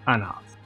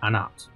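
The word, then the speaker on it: Anath: can be turned into anarth however the proper pronunciation of that word is actually anat the hate is silent from there if you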